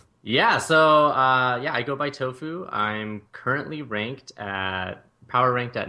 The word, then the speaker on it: Tohfoo: Also called, how do you pronounce her name? My tag? Yeah, your tag? I go by Tohfoo.